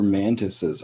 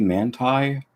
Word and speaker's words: mantises: Shouldn't be manti. That's stupid. No, mantis. Whatever.